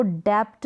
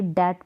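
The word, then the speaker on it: debt: जैसे की यह इसको डेप्ट नहीं पढ़ेंगे डेट पढ़ेंगे यानी 20 साइलेंट है बी का उच्चारण नहीं होगा अब इसको डाउट पढ़ते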